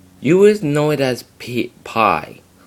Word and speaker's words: π: But it is actually pronounced P in both ancient Greek right through to Koine Greek, and even right through to modern Greek. It is pronounced P, not pi.